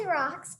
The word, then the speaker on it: Rox: Her name is Rox. It's not spelled like rocks. It's spelled R-O-X with an S at the end.